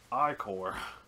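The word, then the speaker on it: Ichor: with magic I core that's pronounced I core that's how we know how to pronounce it they specifically tell you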